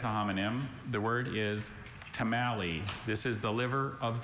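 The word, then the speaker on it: tomalley: The word is tamalei. This is the liver of the lobster. Tamali or tamalei or tamalei.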